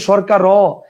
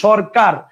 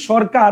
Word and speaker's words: সরকার: আমি কিন্তু বলি নাই সরকার আমি বলছি সরকার তাহলে যেহেতু বলছি সরকার সেই হিসেবে এখানে কিন্তু ব্যঞ্জন উচ্চারণ হচ্ছে হসন্ত দেওয়ার কথা ছিল